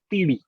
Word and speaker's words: Teedi: विट्ठल टेढ़ी के बारे में बात करें, क्या उसको प्रोनाउंसिएशन क्या है उसका सेकंड वर्ड? इट्स टीडी।